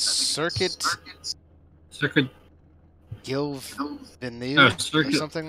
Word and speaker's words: Gilles Villeneuve: I think it's Circuit Gilles-Villeneuve or something like that. I don't even know how to pronounce it. Yeah. I know it's Guile Villeneuve or something like that. Oh, so Gilles Villeneuve, that's what it is.